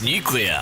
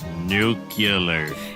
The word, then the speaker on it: nuclear: this porcupine again nucle it's pronounced nucular you just said nuclear yeah what is it nuclear nuclear nuclear yeah isn't that how it's